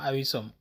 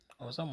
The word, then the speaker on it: awesome: bu njëkk bi am mooy awesome bu leen xooloo ne ñu ko bindee awisom mais kenn du wax awisom. ok boobaa ñu ngi koy dawale ñu ngi koy prononcer awesome mooy loo xam ne